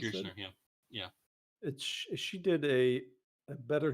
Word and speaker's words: Kirshner: How do you pronounce it? Kirshner, yeah.